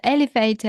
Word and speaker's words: elevator: The the stress is on the first syllable and it should be elevator.